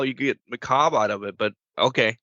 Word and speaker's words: Macabre: to but if you the proper way is either maob or Macabre either or but I don't know I I didn't know how you get maob out of it but